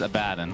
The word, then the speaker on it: Abaddon: i got i got the correct pronunciation is a bad and i've had this conversation